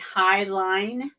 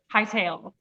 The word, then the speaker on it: Hightail: how to use and I want to say it right, Highline. Hightail. Hightail. I should remember ponytail.